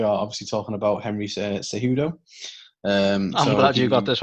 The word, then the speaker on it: Cejudo: We are obviously talking about Henry Cejudo. I'm glad you got this one, Carl. I would have not pronounced that right. So would have been like Kijudo.